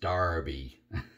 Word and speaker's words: Derby: to use darby soap i know it looks like derby but i understand it's pronounced darby it's lemon of course